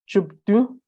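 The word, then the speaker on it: བཅུ་བདུན: Chupdu, because there is pa here, which is added to the first syllable, it becomes chup, chupdu, 17, choke, 18, chuku, chuku, chu, chu.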